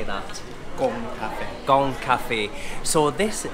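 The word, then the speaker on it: Cộng: and this place, I'm not sure if my pronunciation is correct, Jerry might help me, it's Cong Cafe. How would you say that? Cong Cafe.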